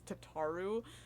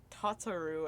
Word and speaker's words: Tataru: a hate crime um another name that i pronoun mispronounced for a long time until i heard it was tataru and then i heard it a cutscene because i said tatsuru and then i heard